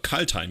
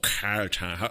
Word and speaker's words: Kaldheim: Kaldheim, yeah. I guess that's how I pronounce it as a German. In English, they would probably go like, oh, Kaldheim.